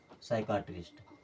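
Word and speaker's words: psychiatrist: हमने क्या सीखा कि अगर प के बाद में सस आ रहा है तो हर जगह पर प हो जाएगा साइलेंट यानी कि एस के पहले पी को नहीं पढ़ा जाता है प के बाद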